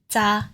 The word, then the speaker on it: 咋: Za in the third tone is the next one we're looking at.